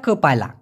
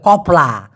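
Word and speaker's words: kepala: দিয়া পুঁয়া ক পায়লা, আমি আবার বলতেছি ক পায়লা, অনেকে বলে কপলা কপালা, ভাই ভুল উচ্চারণ ওটা।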